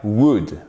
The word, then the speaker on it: would: On le forme avec l'auxiliaire would, d'accord? Et on ne prononce pas le L, s'il vous plaît.